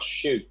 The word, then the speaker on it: choux: It's choux pastry.